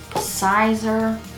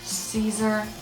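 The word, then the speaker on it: Siser: white i use the sizer or caesar easyweed i have heard it pronounced both ways i don't know what to think my brand says sizer but i have a feeling it's caesar a tube ipad computer cell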